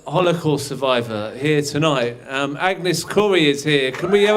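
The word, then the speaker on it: Agnes Kory: So um yes um my name is Agnes Corey which sounds suspiciously like Corey and some and sometimes I do get letters spelled like that but no K O R Y like Steven Cop I'm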